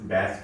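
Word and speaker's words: bass: Remote में एक चीज होती है, ये सलमान खान वाला बैच है, इसे बैस कहते हैं, इसको प्रोनाउंस ना बैस करते हैं।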